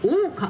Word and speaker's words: 扇傘: 扇に傘と書いて大岡と読みます。